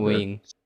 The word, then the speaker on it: Nguyen: Nguyen. It's one syllable. Okay. Nguyen. Yeah, it's like a tone thing as well as like, you know, a pitch thing.